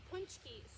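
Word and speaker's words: pączki: there and make homemade punchkis. And I don't know if you know what punchkis are. Punchkis, it's spelled P-A-C-Z-K-I.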